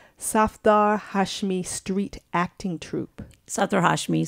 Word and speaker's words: Safdar Hashmi: acting troupe called and tell me if I'm pronouncing it correctly Safdar Hashmi Street acting troupe Satoru Hashmi Street Theater yes